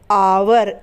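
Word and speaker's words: hour: करना next word है आवर एच ओ यू आर आवर पर एच जो होता है ना वो साइलेंट होता है यानी कि इसका इस्तेमाल हम बोलने में नहीं करेंगे लिखा जाएगा एच लेकिन बोलेंगे इसे आवर किस तरीके से आ व और र आवर ठीक है आवर यानी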